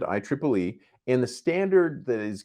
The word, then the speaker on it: IEEE: by the IEEE standard that's actually how you pronounce it IEEE and the standard that